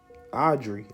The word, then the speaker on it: Auxerre: So you got Saint Germain, Bishop of Auxerre, and that's Audrey. Oh, it's spelled with an X though.